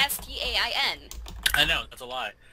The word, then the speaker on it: Berenstain: Some people think it's spelled Stein, like Stein, Berenstain Bears. And then some It is. people say it's Stain. But if you Google it, it's Stain.